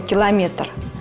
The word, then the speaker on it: километр: километр ударение надо ставить на третьем слоге она падает на гласную е именно эту литературную норму указывают все без исключения словари русского языка как орфоэпические так и толковые при этом при изменении слова километр ударение будет оставаться неизменным